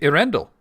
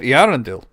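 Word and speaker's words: Earendel: angel in it named Irrendle, you know, and he had it the accent on the A rather than the E when he wrote about Arendel, but he originally spelled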